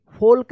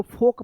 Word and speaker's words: folk: अब देखिए यहाँ पे FOLK, फोल्क नहीं, इसको फोक पढ़ेंगे, फोक, FOLK, फोक।